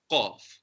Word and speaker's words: ق: And qaf is pronounced with a rounder mouth, qaf.